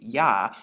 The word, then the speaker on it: Yah: Now, when you look at this, it's actually pronounced like the Ah or Ha. And so we have the Yod and the He, which makes Yah when you put it together.